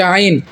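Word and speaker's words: ع: এবং এখন আমরা শিখতেছি যে হামজা এবং আইনের উচ্চারণ। হামজার উচ্চারণটা হবে স্পষ্ট, আইনের উচ্চারণটা হবে স্পষ্ট, কিন্তু আইনের উচ্চারণটা হবে হলকের মধ্যখান। হলকের মধ্যখান হচ্ছে গলার মাঝখান, গলার মাঝখান।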